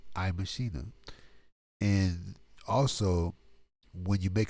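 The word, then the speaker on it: iMaschine: That's IMACHINE. It's pronounced iMachina.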